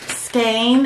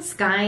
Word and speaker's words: skein: People also like mispronounce skein and they say skein skein skein skyne They say skein. Yeah, that drives me crazy. they don't know why Cocaine doesn't match.